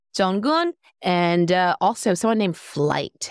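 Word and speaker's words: FLYT: Up next, we have STAYC with Teddy Bear, done by Black Eyed Peas song, Jonggun, and also someone named Flight. It's spelled F-L-Y-T.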